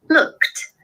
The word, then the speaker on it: looked: Joanne it's Fiona here what do you say looked looked with a t sound at the end otherwise it was fantastic